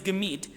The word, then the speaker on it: gemit: And I emphasize the word mood because, and in Yiddish the word mood is gemit. The word mood, gemit, rhymes with the word lied, which is the word for song.